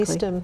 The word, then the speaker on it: Eastham: And the only thing that I could find was in Eastham, I have to pronounce that correctly. Eastham, yeah.